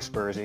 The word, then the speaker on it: Sperzie: spurs --boom oh well it's the Dutch word for green bean it's about its most most english-speaking people call me spurs e so spurs e okay